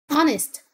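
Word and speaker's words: honest: خياليه طبعا مش موجوده عنست عنست يعني امين او مخلص ديكتوي يعني صفه حرف الاتش هنا سايلاند لا ينطق مخلص او امين تبقى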